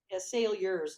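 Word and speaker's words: Saliers: a stickler for pronunciation sail yours like there's a y in it but there's not okay it's like you're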